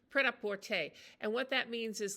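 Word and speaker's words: prêt-à-porter: It sounds really kind of pret-à-porter.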